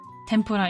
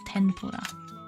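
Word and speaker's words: てんぷら: Tempura is the same thing, just pronounced with an N instead of an M. So it's not tempura, but it's tenpura.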